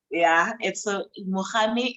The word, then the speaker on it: Mogami: So it's Mogami is M-O-G-A-M-I, not M-E, M-I rather. Mogami.